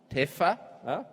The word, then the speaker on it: TEPPFA: This award is kindly sponsored by TEPPFA, pronounced TEFA.